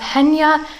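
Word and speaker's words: Chania: It's spelled Chaina, but I believe it's pronounced Henya.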